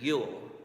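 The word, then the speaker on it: Ewell: examples the first one it sounds like combining the words you and will together as saying it quickly so you will Richard you'll that's one correct way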